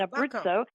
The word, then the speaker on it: Abruzzo: Turbakco is the way you uh pronounce it. And Abritzo is the the way you pronounce that.